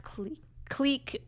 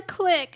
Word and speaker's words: clique: You do pronounce clique. I clique. It's a clique. It's not a clique. I refuse to change. It's a clique. Like a squeak, you clique.